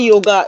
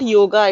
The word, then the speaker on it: yoga: Yes, and we say yoga. It's not yoga, it's yog It's yoke.